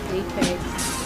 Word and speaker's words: Eipeks: Apex. How do you spell your Apex? Eipeks is eipeks. I know of APES. Yeah, that's the actual word, but the pronunciation spelling, that's the name of my company.